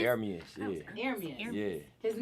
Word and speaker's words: Ermias: My real name, it means God will rise. It's ERMIAS though. That's how you say it. Oh, that's how you say ERMIAS? ERMIAS, yeah.